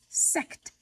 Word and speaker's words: Sekt: This sparkling wine is called Sekt, very similar to the German word for the number 6, except it's spelled S-E-K-T.